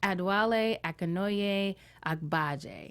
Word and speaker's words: Adewale Akinnuoye-Agbaje: His nickname is Triple A because everyone finds it kind of difficult to pronounce, but is Adewale Akinnuoye-Agbaje.